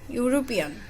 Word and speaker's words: European: Here is also another word is European. U. The first letter is E, vowel, but we will not use here N. We will use here A because it's pronounced as like U.